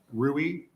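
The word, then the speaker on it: Ruwe: time to be kind enough for stationing the spell it and then who you represent that'd be helpful yes my name is rui r-u-w-e uh I am employed as the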